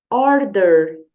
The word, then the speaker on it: order: com a teacher Order perceba que temos aqui a letra R Então você tem que fazer aquele r bem caipira puxa bem or or or sem preguiça vamos de novo Order se você não fizer esse R caipira você não vai conseguir falar direitinho essa palavra Tá bom então é